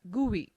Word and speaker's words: GUI: a graphical user interface gui pronounced as gui between a computer and